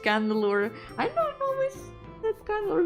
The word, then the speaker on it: Chandelure: Chandelure knowledge is pronounced candelure.